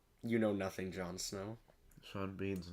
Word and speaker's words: Sean: Rhymes oh yeah because his name should be seen Bean the way that it's spelled but because it doesn't rhyme God or something Smite